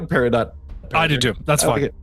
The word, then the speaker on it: peridot: one yeah yeah good job Rebecca parado least pronounce it correctly it's par rul it's bonm and paradot that's like that's those are those are the